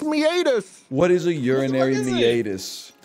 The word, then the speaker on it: meatus: __ ] is the urinary meus man it's meatus it's pronounced meatus what is a urinary meatus oh it's a